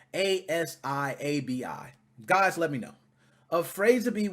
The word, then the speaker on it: Afrasiabi: Now, Afrazabi, or however you pronounce it, it's Afrasiabi.